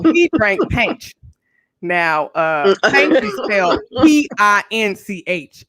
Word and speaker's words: Pinch: pranked paige now uh p-i-n-c-h it's pinch but pronounced out loud is paint he always it works